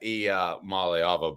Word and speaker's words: Iamaleava: So I kept working on that, and finally I was able to get that Iamaleava.